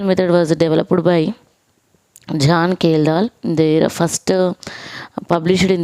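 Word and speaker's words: Kjeldahl: is it important question kalal method it is not kelal method J is silent kalal method is used for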